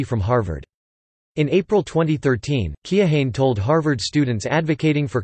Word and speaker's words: Keohane: While the most common pronunciation is Keohane, following the name's phonetics, the correct pronunciation is Keohane, incorporating a silent e and a hard a.